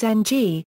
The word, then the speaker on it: Ng: of a cubed is ng a syllable made entirely of a nasal consonant while the minan transliteration